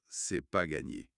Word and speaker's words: c'est pas gagné: Prononciation, attention, c'est informel. C'est pas gagné. C'est pas gagné. Oui, le no disparaît souvent à l'oral.